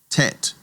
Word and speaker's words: Tet: It gets a t a t sound as in tom. Tet.